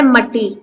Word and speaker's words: مٹی: کا تلفظ واضح کیجیے۔ سب سے پہلے ہے مٹی، میم کے اوپر زبر، ٹے کے اوپر شد، ٹے کے نیچے زیر، چھوٹی اے کے اوپر جزم۔ نمبر 2، گلشن، گاف کے